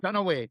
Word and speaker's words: Dunaway: Runaway. Like Runaway.